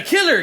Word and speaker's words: Kyler: the killer cabin? No, Kyler. What do you mean, killer? Oh, no, sorry. That's just how his name is pronounced, Killer.